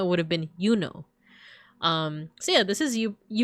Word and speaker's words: Juno: It wouldn't have been pronounced Juno. It would have been Yuno.